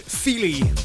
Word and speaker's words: Feely: This is a guy from Dublin called George Feely, and that's spelled F-E-E-L-Y, as in touchy-feely.